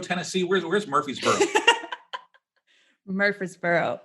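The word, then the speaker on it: Murfreesboro: and that's in in Murphy's buror Tennessee where's where's Murphy's buror Murphy's Boro um say it right yeah it's got to sound like you have mashed potatoes in your mouth uh it's maybe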